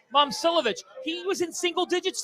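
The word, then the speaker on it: Momčilović: Pronunciation. Momcilovic.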